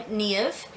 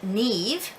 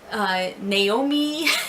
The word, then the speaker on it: Niamh: So I'm Niamh, and I know that in many parts of Ireland it's pronounced just Niamh. And I do accept that pronunciation. I don't mind when people call me Niamh.